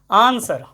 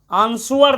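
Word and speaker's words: answer: बहुत सारे शब्द होते हैं डब्लू साइलेंट में, जैसे जैसे आप देखो, आप लिखते हो आंसर, आंसुअर नहीं, आंसर, आंसर उत्तर या उत्तर देना, ठीक है।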